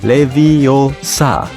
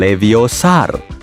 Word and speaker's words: Leviosa: butuh bantuan Hei sirih yang benar Leviosa bukan leviosar aplikasi pengukur Apa alat